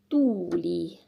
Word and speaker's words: tuuli: We have tuli, tuuli, and tuli.